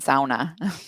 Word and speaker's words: sauna: bath as well and Kyle's asking me to pronounce sonna correctly so now that's how they say didn't fill in Sona I'm American what can I say there's a there's